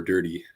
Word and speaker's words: Durde: surprise is um besides Aden der's name being pronounced as ADD and dir or dirty shoot is dirty or dir dirty dirty all